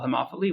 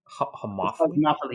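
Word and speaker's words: homophily: networks tend to form around what they call homopholy which is like similarity of of interests and tastes and things like that in the case of what's that word again? Homophy.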